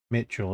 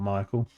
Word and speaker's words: Mitchell: Mitchell, isn't it? Not Michael. Realized I pronounced it wrong earlier.